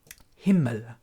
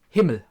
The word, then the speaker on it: Himmel: A lot of people already pronounce him right, but we do have Himmel. Himmel, right? That's how you pronounce him.